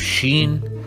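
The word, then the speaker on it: شين: Then we have sheen, written exactly like sin, but with 3 points on top, and we pronounce it sh, like an SH in English.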